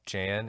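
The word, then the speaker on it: Geanne: Jan Meyer's house now Jan's name is spelled like Gene it's g-e-a-n-n-e but I've heard it pronounced Jan including in a 911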